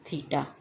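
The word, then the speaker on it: theta: थीटा टी एच ई टी ए थीटा इसकी pronunciation है।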